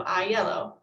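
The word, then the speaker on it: Aiello: i would just say well it's i like me i and then the color yellow so i yellow so that is now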